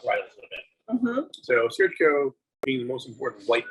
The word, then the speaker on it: Assyrtiko: So when you would see Assyrtiko, it's spelled, I'm looking at the bottle, Assyrtiko, and it's pronounced Assyrtiko.